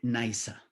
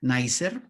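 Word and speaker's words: Neisser: miller y a ulrich naysa así es como se pronuncia en su origen alemán este apellido que lo podríamos decir como nacer pero en alemán liza ellos son los propulsores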